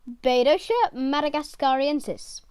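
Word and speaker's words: Bedotia madagascariensis: the madagascar rainbow fish scientific name pedosha madagascarensis pronunciation badosha madagascariensis size to 10 centimeters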